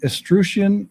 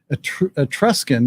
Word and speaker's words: Etruscan: is closely linked to the estrucian or i think that's how you pronounce pronounce it etruscan excuse me etruscan goddess vatica etruscan